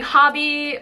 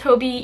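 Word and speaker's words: Hobbii: then for my International friends I feel like hobby or people have told me like it's pronounced Hobie even though I've seen people say both Hobie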